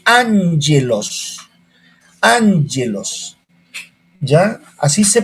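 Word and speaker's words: ἄγγελος: Ángelos. Cuando dos gamas se unen, la primera al pronunciarla es N. Ángelos.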